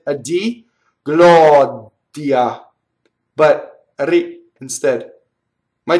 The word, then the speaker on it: gloria: in the first one we have Gloria flipped oh it's not notice it's not Lauren yeah it's not rolled it's Gloria okay ready it's just one little tick of the are so it's one of these everywhere it's only one of those right Gloria that's it